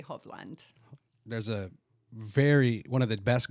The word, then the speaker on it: Hovland: And then the Norwegian pronunciation would be Hovland.